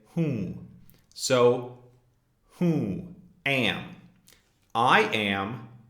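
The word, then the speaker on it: हूँ: which is hmm-hmm again this is nasalized the N isn't actually pronounced even though you may see it written hoon we don't say whom we say whom so Who am I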